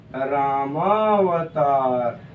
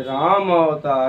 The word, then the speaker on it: रामावतार: तो क्या हो गया, रामावतार, कुछ लोग उच्चारण दोष कर देते हैं, राम अवतार, रामा अवतार करते हैं, गलत बोल देंगे।